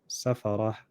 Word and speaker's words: سفرة: Safaratin. When I stop, safarah.